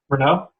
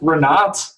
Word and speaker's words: Renault: One drives for Renault now, unfortunately, and the other one. Whoa! One drives for who? Renault. Oh, Renault.